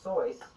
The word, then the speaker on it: Seuss: aka dr seuss which originally is supposed to be pronounced dr soyce but i'm not going to say that because there's probably only